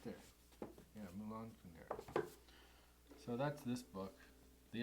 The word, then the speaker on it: Milan Kundera: I want to make sure I say his name right. Milan Kundera. I say it with an accent. Oh, that's right there. Yeah, Milan Kundera.